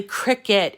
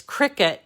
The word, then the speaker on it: Cricut: a brand, it obviously, Cricut is spelled Cricut. It has the word cut in it. And it sounds like a bug, right? It's a cricket, but it's not spelled like a cricket.